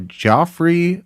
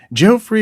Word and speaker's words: Geoffrey: So Merlin was the creation of Joffrey of Monmouth. Let me get that right. Jeffrey. Geoffrey? Yeah, how do you Joffrey? pronounce that? Geoffrey? Geoffrey of Monmouth.